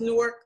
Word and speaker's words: Newark: There may be, maybe 10 or 15 Newarks in the United States. Some are pronounced Newark, like we pronounce it. Some are Newark, Delaware. There's a Newark, Ohio, Newark, New York, Newark, California.